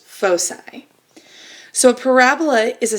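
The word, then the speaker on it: foci: ellipse and I parola have two focuses which are pronounced fosi so a parabola is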